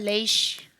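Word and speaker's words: ריש: 네, 레이시의 발음은요. 그냥 표면적으로만 봤을 때는 르예요. 르. 그래서 우리는 그냥 흔하게 르라고 발음을 하시면 돼요. 근데 이거 한 가지 알아두면 좀 조금 안 해? 라고 히브리어 좀 배웠네? 라고 할 수 있는 게 이 르 발음이 알 발음이거든요. 아까 이 전에 배웠던 라메드는 엘 발음이잖아요. 근데 레이시는 알 발음인데 이 알 발음 중에서도 어떤 발음이냐면 독일어의 알 발음이에요.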